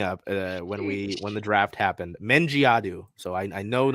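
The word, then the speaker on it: Mendjiadeu: We got the pronunciation guide. Dulcie Fancom Mengiadu. Say it with me. Dulcie Fancom, like Fan come COME, Mengiadu. That last name really messed me up when the draft happened. Mengiadu.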